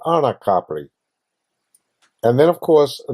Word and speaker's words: Capri: most people say complete which is incorrect in Italian that's pronounced Capri which is a beautiful